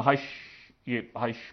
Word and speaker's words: Reich: कि वो हमारी पहली हाइश थी। अच्छा, इसको इंग्लिश में तो ज़ाहिर है REICH करके इसको कहते हैं, लेकिन इसको पढ़ते हाइश करके हैं, ठीक है, जर्मन प्रोनाउंसिएशन में।